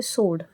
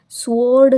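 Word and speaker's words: sword: The consecrated blade upon my नीज, कि उसकी नीज पे उसने एक ब्लेड है यहाँ पे सोड, है ना, सोड, स्वॉर्ड नहीं है ये, डब्ल्यू इज साइलेंट हियर, सोड।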